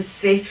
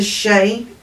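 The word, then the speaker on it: sidhe: Now, I've been saying this is the Sith for about ever, and it's not, it's the she. I finally learned how to say it.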